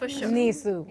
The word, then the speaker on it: NISAU: We pronounce it NISU.